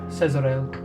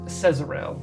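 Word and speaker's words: Cezerale: I think sorry Cesarel. Uh, spell it however you want, but I have it C E Z E R A L E.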